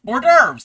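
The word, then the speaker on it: hors d'oeuvres: Orderves. Orderves. That's how you say it.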